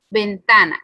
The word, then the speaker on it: ventana: Por ejemplo, ventana. ¿Y cómo sabemos que es el penúltimo? Está último, penúltimo. Y este sería antepenúltimo. Entonces, su sílaba tónica está en medio, así que sí es llana o grave.